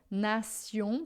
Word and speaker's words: nation: Todas as vezes que a gente tem em francês o TI e depois uma vogal, a gente vai ter esse som de si. Então, nation, por exemplo, em francês a gente escreve com T, mas a gente pronuncia C.